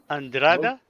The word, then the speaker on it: Andrade: we say his name andraga we'll show you some of his artwork I can barely speak English now this the stressed syllable is the second one and it's got some